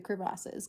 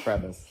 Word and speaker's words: crevasse: That is the correct pronunciation, crevasse, not crevice.